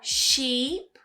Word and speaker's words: sheep: So the first one is longer. Sheep. And you smile more.